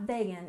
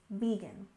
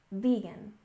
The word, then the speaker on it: vegan: next we have vegan with stress on the first syllable it's not vegan it's vegan vegan vegan and this refers to